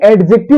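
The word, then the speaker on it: adjective: एडजेक्टिव होते हैं हालांकि एडजेक्टिव नहीं होता एडजेक्टिव होता है जो हमारा डी होता है ये साइलेंट होता है बेटा ठीक है क्या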